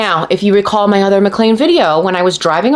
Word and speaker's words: McLean: the mean of mlan see if you pronounced it McLean it would make so much more sense the mean of McLean